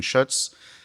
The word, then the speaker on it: Schuetz: uh Steven Schutz. Um he's told tells me it rhymes with Tootsz.